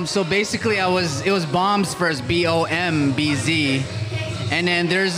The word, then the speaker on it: BXMBZ: Yeah, he goes, it's Bombs. I was like, bro, it's Bombs. Yeah. Oh, okay. So tell me about your name. So basically, it was Bombs first, BOMBZ.